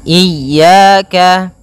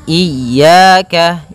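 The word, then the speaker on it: إِيَّاكَ: ini hati-hati dalam pelafalannya ada dua kesalahan yang sering terjadi yang pertama yaitu dia memanjangkan Iya nah seperti itu harusnya dia ee ditekan dan dilembutkan iyaka iyaka nah kemudian jangan sampai dibaca panjang jangan iaka tidak ada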